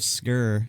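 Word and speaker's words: Sker: name yeah it's called it's spelled s-k-e-r so i'm like the maid of skur it was free with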